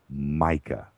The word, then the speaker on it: Micah: So it is indeed Micah. That is it. Rhymes with Formica, right?